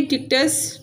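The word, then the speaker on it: Dictys: Next है pronunciation guide, जैसे ये डेने, ऐसे परस्यूस, पर सीऊस, पोलिडिक्टस, पोलिडिक्टस, मेडूसा, मेडूसा, एंड्रोमेडा, एंड्रोमीडा, ऐसे डिक्टस, डिक्टिस।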